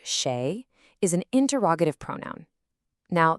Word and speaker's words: 誰: Da, which is pronounced sheay, is an interrogative pronoun.